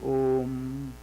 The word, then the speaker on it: Om: Actually, a, u, ma. Om. And another sect is there. In India, they say oim. A, e, ma. But actually, o, a, u, ma. If you pronounce that a is a starting point. Ma is a sparsha varna, that means it ends, closes. No touch. Om. A, u, ma and nasal sound.